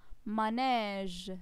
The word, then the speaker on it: manège: On a manège, manège. j'ouvre bien ma bouche pour prononcer le son E dans ces mots.